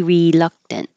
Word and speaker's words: reluctant: hear two Rees very reluctant if you change the re to R you'll hear very reluctant very very reluctant and this means don't say the K reluct just hold the K reluctant unaware the stress is